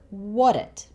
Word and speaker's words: what: But here, the t sound in what actually changes to something that sounds somewhere between a D and a T. So it sounds more like what it, what it, what it. And the t sound at the end of it is really short.